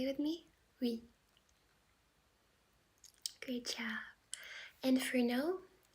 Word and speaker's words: oui: And yes is going to be oui, oui, oui, oui. So this one is definitely simpler. Can you try to say it with me? Oui.